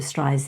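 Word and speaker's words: Streisand: when I say Barbara strian because she actually did an interview where she taught people how to say her name and she said it's sand on the end she even corrected didn't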